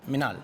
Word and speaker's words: Minal: How do you pronounce Minal? Minal.